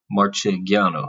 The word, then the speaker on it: Marchegiano: a G but you know people had trouble pronouncing It in America so it just became Marciano instead of marchegiano so anyways it's probably one of those things